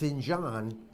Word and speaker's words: Finjan: probably one Nasdaq and now I pronounced it's in John because we have a little conversation prior to coming on camera and give us a quick